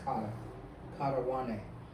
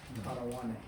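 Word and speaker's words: κατὰ Ἰωάννην: This is kata wane. That's how you say it in Greek, wane, kata wane. So that's how you say John, kata wane.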